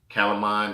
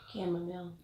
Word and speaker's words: chamomile: Calamine, this is a nice herb to use as well as medicinal reason. I think I said it right. What is it? Chamomile. Chamomile. Okay, chamomile. Tea.